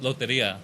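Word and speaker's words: Lotería: Loteria.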